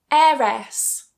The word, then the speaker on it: heiress: Heiress, heiress. Or heiress, heiress. Or another one, heiress, heiress. So for that last one, you've got 3 different ways to pronounce it. So you pick which one you prefer.